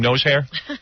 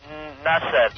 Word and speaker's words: Nasser: What, is every Muslim guy named Nose Hair? Are you a Muslim? Nasser, not nose hair.